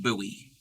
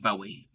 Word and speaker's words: Bowie: o wi i e but it's pronounced buoy so anytime I see that and I'm not paying attention I just want to say buoy instead of Bowie now I need to